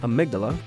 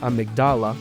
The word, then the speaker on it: Amygdala: Finally, I pitch stopped at Amygdala, or how Patches pronounces it, Amygdala. Oh, Amygdala, Now I'm hesitant to say every boss's name, just in case German turns out to be German.